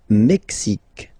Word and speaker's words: Mexique: Le Mexique. Le Mexique. Mexique. It's really the X. Huh? Le Mexique. And then remember this QUE, it's only K.